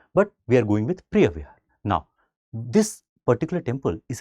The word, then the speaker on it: Preah Vihear: Preah Vihear, right? Of course, there would be a particular local pronunciation also, but we are going with Preah Vihear.